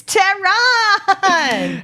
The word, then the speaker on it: Tehran: so i'll tell you it kind of slant rhymes with the name of the country um so how would you how would you hey it's tehran hell yeah i think